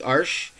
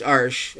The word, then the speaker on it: Arches: But this is a little bit more economically priced than the Arches paper. And for anyone who's ever wondered, it is pronounced Arches. A lot of people say Arches, but it is actually Arches. So I just tend to say it that way.